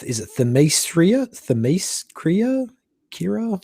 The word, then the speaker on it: Themyscira: I had now this is really hard for me to pronounce. Is it Themyscira? Kira? Themyscira?